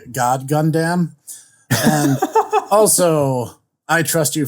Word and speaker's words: God Gundam: all in one sentence first of all you mispronounced it it's actually god gundam and also i trust